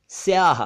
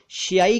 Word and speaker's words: स्याही: यहां बता दूं कि कई लोग शियाई कहते हैं शियाई सियाई कुछ नहीं होता स्याही होता है स्याही और स्याह के जैसा